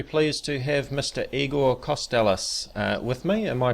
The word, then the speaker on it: Kostelac: Igor Costellis uh with me. Am I pronouncing your name correctly, Eigor?